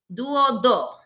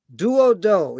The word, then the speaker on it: Duodo: First, it's not Spike, and I just said their name wrong. So Clementine, Santiago, and the name of the group is Duodo. Duodo.